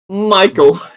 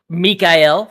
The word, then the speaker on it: Mikel: that but like yes gide Michael it's Mikel thank you yeah it's m see